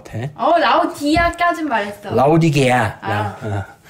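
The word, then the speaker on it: 라오디게아: 라우디게아. 이 개를 빼먹었네. 라우디 멍멍개가 아니라 어이개. 근데 사실 이게 영어 발음이라 뭐 정확한 중요하진 않고 어쨌든 외워도 라우디게아 교회.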